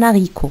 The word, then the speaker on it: haricot: suivant, une histoire, un haricot. Le H ici n'est pas prononcé. Le H c'est muet.